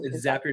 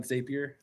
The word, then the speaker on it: Zapier: Um, Zapier, not Zapier. Yeah, because it makes you happier. So that's how you remember.